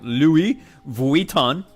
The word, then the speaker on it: Louis Vuitton: Is Louis Vuitton, which is the correct pronunciation.